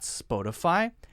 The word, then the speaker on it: Spotify: many people say spoke I'm getting Spotify Spotify Spotify it's not Spotify it's spa spa spa Spotify spa they're fine now notice I'm not saying spot to fortify spot to to to I'm not pronouncing the T sound in a very strong way I'm not saying spot Spotify Spotify Spotify very light T sound sounds like a light D right spot